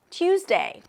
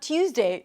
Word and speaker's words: Tuesday: Tuesday." And then he said, "Oh, it's not Tuesday, it's Tuesday. Tuesday, without the y sound."